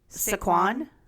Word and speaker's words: Saquon: Saquon? It's Saquon Barkley.